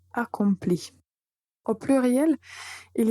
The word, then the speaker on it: accomplit: Mais la prononciation est identique pour toutes les personnes du singulier. Donc, j'accomplis, tu accomplis, il, elle accomplit.